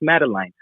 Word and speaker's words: Madeline: First of all, if you even were talking with the family, you would know that her name is pronounced Madeline, not Madeline.